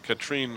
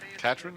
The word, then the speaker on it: Katrin: Well, I do believe she told me it was Katrin. Katrin? Okay. Yeah. It's Katrin Lorber, Yep.